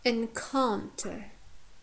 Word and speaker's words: encounter: So here we have full vowels or long vowels in the second syllable, in the penultimate syllable, yeah, second from the end, and therefore here stress falls on the second syllable, encounter, because our third syllable